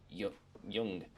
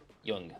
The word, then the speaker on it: Jung: Um, as in the Swiss psychologist Carl Yung is pronounced Yung. Okay. Okay. Rhymes with book. Yung. Yung.